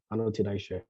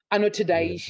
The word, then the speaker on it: Anotidaishe: No, you're pronouncing it right. It's Anotida. Anotidaishe. Okay. Anotidaishe.